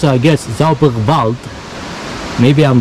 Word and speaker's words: Zauberwald: They pronounce it, I guess, Zauberwald. Maybe I'm wrong. The W they pronounce here, they pronounce it here V. V as in vector.